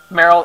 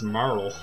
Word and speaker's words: Marle: run whatever so um Merl has or Carol has become a bunch of oh never mind your name's not even Merl it's Marl Marl Merl Marl really